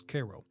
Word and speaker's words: Cairo: so they called it Cairo, which I've been told locals pronounce as Cairo.